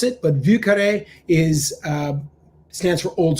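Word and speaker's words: Vieux Carré: would be far more popular if people could pronounce it but vucare is uh stands for old square so i've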